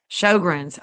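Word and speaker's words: Sjögren's: Shogrins. Okay. Is how it's pronounced.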